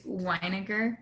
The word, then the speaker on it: Weiniger: a few years, and the combination of NG is actually silent. And so whenever I see an NG together, I always have to like preface, is the G a hard G or is it a silent G?